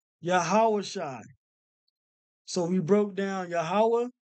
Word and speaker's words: Yahawashi: make this bigger down so you pronounce this yah hold on y sh I yah ha sh I yahawah Shai yahawah Shai yahawashi so we broke down